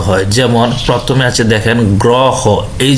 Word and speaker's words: গ্রহ: এই যে দেখেন, এই যে আমরা একটা উকার দিছি, এই যে উকার দিছি, গ্রহ হয়ে গেছে, গ্রহ। তাহলে শব্দের প্রথমে অকার যুক্ত র ফলা থাকলেও তার উচ্চারণটা ওকারের মতোই হয়।